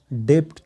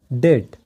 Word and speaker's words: debt: زیاتره خلک وایي دا ډیپټ دی خو دا ډیپټ نه دی دا ویل کېږي ډیټ لکه ډال او ټی ډیټ او د دې مطلب دی قرض.